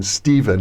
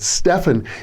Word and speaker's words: Stephan: Sometimes I call him Stephan, and I've known him for 40 years, but Stefan is the correct pronunciation. He tolerates people like me calling him Stephan from time to time.